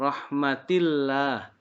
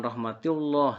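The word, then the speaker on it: rahmatillah: tarqiq namanya dibacanya tipis Hai rohmatillah jangan rohmatullah salah rohmatillah bagi siswa atau santri yang belum pernah belajar mungkin bisa jadi bacanya Salah yang berikutnya tanda waqaf Cola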